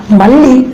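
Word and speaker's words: మళ్ళీ: If you take it as a Malli means it is jasmine, but if you stress this letter L, Malli, then it means again, means repetition.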